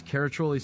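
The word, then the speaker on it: Caraccioli: our Tasting Room in downtown Carmel California that's katoli sellers c a r a cc i o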